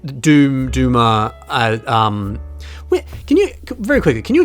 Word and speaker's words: Duma: Yep, no, it is, according to the Bionicle Encyclopedia, it is pronounced Duma. And that is how they say it in the movie as well, Turaga Duma.